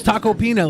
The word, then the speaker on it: Tacopina: It's Tacopina, like pina colada.